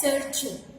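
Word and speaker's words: Sergei: Okay, this is being pronounced as Sergey. Clear? It is a French word and it is being pronounced like Sergey.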